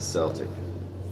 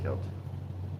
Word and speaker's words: Celtic: I don't know why, but they pronounce a Celtic, not Celtic.